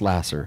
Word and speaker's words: Laser: more time lasser so that's spelled like the pure love of jesus pure love jesus lasser l-a-s-e-r okay spelled like laser pronounced lasser okay um look truly